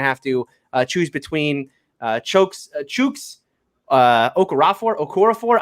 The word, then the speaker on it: Okorafor: The Steelers are going to have to choose between Chooks Okorafor. I say it wrong, and my co-host or my former co-host Chris Carter gets angry with me. I think it's Okorafor.